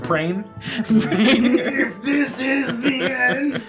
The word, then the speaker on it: prion: It's pronounced prown. Oh, I pronounce it prain.